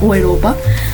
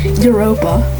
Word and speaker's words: Europa: I neglected to mention Bremen and Europa. A lot of you might consider it called Europa, but after doing a little research, it's actually pronounced Europa.